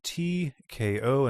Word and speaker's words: TKO: SCP 3753, titled TKO, and that's spelled TEAKO, by Werillium.